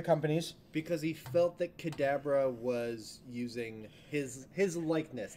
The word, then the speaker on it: Kadabra: sticking the landing um no no it's it's pronounced Kadabra was the Pokemon um 2002 was the last